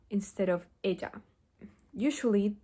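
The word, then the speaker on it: ella: instead of Joe and Aya instead of Eda usually the way that Spanish speakers pronounce the Y and the Double L is by having their upper teeth and their lower teeth touch so first I'm going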